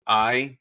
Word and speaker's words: Ai: Is it AI or I? Oh, good question. You got it right. It's I. Mm-hmm. Yep. Cool. It's just the Hebrew word that means ruin. But yeah, just pronounced I.